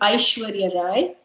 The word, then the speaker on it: Aishwarya Rai: famous personalities and so aishwarya rai this is how you pronounce her name aishwarya rai shaharukh khan virat kohli